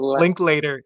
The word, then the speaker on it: Linklater: Link Linklater, link later.